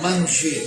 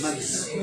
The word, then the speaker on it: manger: Donc chaque fois que vous faites une diphtongue, manger, changer, etc., vous employez le N, mais vous ne le prononcez pas.